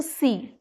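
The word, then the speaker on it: sea: s h e is she s w is C and S E A is also C right so if you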